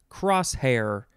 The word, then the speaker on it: crosshair: the pronunciation guide spells hair like h-e-r and you're supposed to know that that's pronounced hair although it sure looks like the word her to me okay back to the words circa 1884.